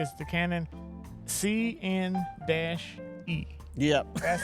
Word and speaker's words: CN-E: It's the Canon CN-E.